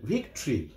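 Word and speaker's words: victory: এটা ভিক্ট রি, ভিক্টরি, মাঝের ভাওয়েল উচ্চারণ হবে না, অর্থাৎ ভিক্টোরি হবে না, ভিক্টরি বিজয়।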